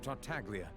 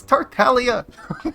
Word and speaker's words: Tartaglia: the charges against Mr tartaglia no longer they pronounce his name wrong it's Talia God damn it fine